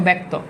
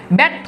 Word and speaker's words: ব্যর্থ: আকার হয়ে গেছে দেখো ব্যর্থ ব্যর্থ দেখো উচ্চারণে জফালা আকার হয়ে গেছে তার মানে ভাই আমি